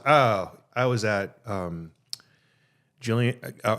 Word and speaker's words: Gillian: I was at um Jillian I understand now it's it's Gillian well not I'm me saying I've been pronouncing the G with the soft J sound or whatever it's the whole GIF GIF um Gillian Welsh and David